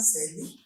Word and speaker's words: Shailly: Am I pronouncing your name Yes. correct? Yes, sir. Shailly.